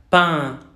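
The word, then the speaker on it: pain: ¿Cómo hacemos una vocal nasal? Es como si estuviéramos enfermos. Mandamos toda nuestra voz hacia la parte de atrás de nuestra garganta. Pan. Este pan significa pan. Y en fonético, alfabeto fonético internacional, se escribe así, P y E nasal.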